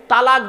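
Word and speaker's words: طلاق: স্বামী স্ত্রী হতে হতে দেখবেন স্বামী তার স্ত্রীকে তালাক দেয়। কি দেয়? জোরে বলুন। শব্দটা কিন্তু তালাক নয়, শুনে যান, আজকে হিন্দু মুসলিম সকলে শুনে যান, শব্দটা কিন্তু তালাক নয়। শব্দটা কি? শব্দটা হলো তলাক।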